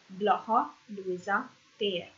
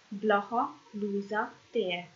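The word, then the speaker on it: Blaha Lujza tér: Tér, again, means square, so I pronounce again. Blaha Luisa tér. Blaha Luisa tér.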